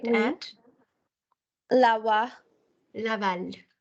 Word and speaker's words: Laval: Laval. The L in the end is Laval. pronounced. Yes, Oui, Laval.